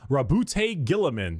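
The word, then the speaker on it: Roboute Guilliman: Primarch Rabute Gilliman.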